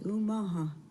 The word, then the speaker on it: Omaha: omaha tribe of nebraska the correct pronunciation of omaha is umaha meaning going against the current and i think that's